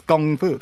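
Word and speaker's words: gongfu: was just like, oh, we've been pronouncing it wrong in the West my whole life. Like it's gong fu.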